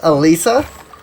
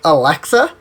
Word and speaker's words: Elisa: my sister's dog's name, which is Elisa, except that she was saying it wrong, and she was saying it almost like Alexa, and so the thing kept going off.